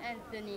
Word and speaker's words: Anthony: In realtà io mi pronuncio in inglese, Anthony.